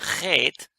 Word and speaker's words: Chet: Na, la J, que es la, aquí dice Chet, pero también se pronuncia mayormente Het, como ya le dijimos.